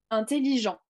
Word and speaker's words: intelligent: thé justement vous ne vous ne prononcerez pas la dernière la dernière consonne intelligent ne prononcez pas parce